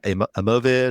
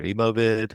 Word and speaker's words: Emovid: Yeah, Emovid or Emovid. It's like think of emojis, but with vid at the end because we have a video at our core.